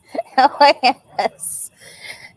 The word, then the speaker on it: La Spisa: It's just one syllable. LASPISA Yeah, La Spisa.